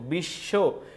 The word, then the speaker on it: বিশ্ব: বর্ণের উচ্চারণ দৃত্ত ঘটে কখন দ্বীত ঘটবে পদের মধ্যে অথবা শেষে যদি বফলা থাকে তাইলে কি হবে দৃত্ত হবে দৃত্ত আর শুরুতে হলে উচ্চারণ হবে না দেখো এই জায়গায় দেখো বিশ্ব বিশ্ব এই জায়গায় বফলা